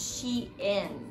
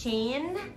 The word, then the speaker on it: Shein: actually fun fact i i've only recently learned that it's pronounced as she in i've been pronouncing it as shane and then my friend